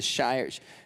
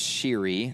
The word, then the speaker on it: Shire: The Shire, it's pronounced Shiri, the Shiri Highlands.